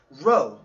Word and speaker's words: rho: this is the word Rho even though it says even though it looks like a P in Greek it's pronounced Rho Rho so our age